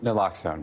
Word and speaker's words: naloxone: sayal first things first correct me on proper pronunciation there Max alone naloxone naloxone every time okay this is a very